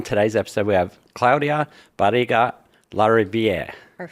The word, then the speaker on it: Barriga-Larriviere: And on today's episode, we have Claudia Bara Larier.